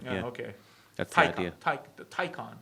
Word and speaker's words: Taycan: Taycan, I think it's pronounced.